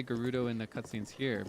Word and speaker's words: Gerudo: Do you like the way that I pronounce that in English, by the way? I think in Japanese it's just Gerudo Gerudo. I think that's what they say in the cut scenes, but I don't know